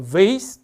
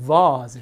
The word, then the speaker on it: vase: 그래서 vase 또는 vase 이렇게. 그러니까 vase 같은 경우는 처음 들어보시는 분 있죠. 이게 막 꽃병이 우리말로 하면 약간 이게 끝병 이런 식으로 전혀 다른 발음이 나거든요.